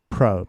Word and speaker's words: pro: 그러니까 P와 R 사이에 모음이 들어가면 안 돼요. 모음 개입을 하시면 안 돼요. 근데 여기다가 으라는 아랫받침 을을 여기다 집어넣어서 한국인들이 발음을 하거든요. 그러니까 이제 발음이 다 뭉개지는 거죠. 외국인 입장에서 보면은. 그러니까 프로가 되는 거죠. 한국 사람들은. pro. 영어는 pro. 이 소리가 그렇게 나는 거예요.